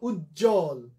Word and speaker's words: উজ্জ্বল: তো যেটা বলছিলাম, যুক্ত ব্যঞ্জনের সাথে যদি বফলা যুক্ত হয় সেই বফলার উচ্চারণ হবে না। প্রমাণ দেখো, উজ্জ্বল, দুটো বর্গীয় জ আগের থেকেই যুক্ত ছিল, জ জ, আবার নতুন করে বফলা যুক্ত হলো, ফলে ওর আর কি নাই তোমাদের ভাষায়, বেল নাই, টাইম নাই, খাউন নাই, মানে এই বফলার উচ্চারণ আর হবে না, কারণ আগের থেকে ওই